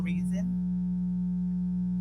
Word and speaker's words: Reason: Reason, pronounced as in the reason why I'm here.